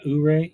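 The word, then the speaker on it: Ouray: uray uray uray uray uray uray uray Ur stop I can't figure can't figure out how to say this they said when we called to book it they said it was Ur it's the little town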